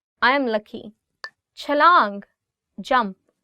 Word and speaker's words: छलांग: Chalang, jump. Chalang. Again in this word, it's ch.